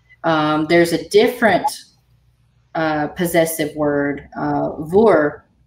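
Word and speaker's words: bhur: There's a different possessive word, vor. Do you pronounce it vor or ver? Vor.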